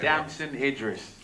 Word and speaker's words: Damson Idris: Damson Idris.